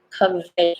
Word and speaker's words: Covey: Covey. So names are difficult. So I had, I checked the dictionary of pronunciation to check this vowel right here. So this is the schwa. It's So Covey. Covey.